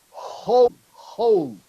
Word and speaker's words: whole: Here is whole. Okay? Hole. Yes. Like black hole, yes? Yes, black hole. Yes, exactly. Black hole. Okay. Yes, not roll.